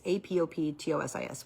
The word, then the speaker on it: apoptosis: It's apoptosis, where it's a natural cycle that our cells go through in our body, where they die off and produce new cells.